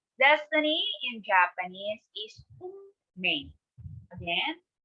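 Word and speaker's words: 運命: Destiny in Japanese is unmei. Again, unmei. Even though it is written as unmei, it should be pronounced as unmei.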